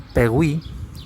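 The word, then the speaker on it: Péguy: que era muy religioso, que se escribe Pegui, o Pegui, o Pegui, se dirá Pegui, algo así, P-E-G-U-Y, que bueno, simplemente tiene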